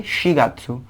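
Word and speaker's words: 四月: तो देखिए इची इची गात्सु, नी गात्सु, सान गात्सु, लेकिन यहाँ पे हम लोग योन नहीं यूज करते, हम लोग शी यूज करते हैं, जो कि मैंने बताया था आपको एक दूसरा भी प्रोनाउंसिएशन होता है।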